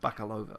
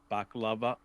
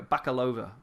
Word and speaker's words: Bakalova: think could come from maria baklava i could pronounce that wrong again i think it's baka bakalova bakalova uh and you know we